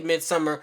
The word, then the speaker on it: Midsommar: Now I know it seems like I'm probably pronouncing this wrong because it looks like it should be pronounced Midsommar, but I heard the director say Midsommar, so I'm gonna call it Midsommar.